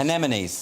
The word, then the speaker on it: anemones: is that dimwit C anemones however you pronounce it it's a weird word it's anemones yeah exactly Andrew which